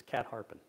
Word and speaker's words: Catharpin: Today it's known as Bull Run and Little Bull Run, I think, but at the time the second stream was known as Cat Harpin Run.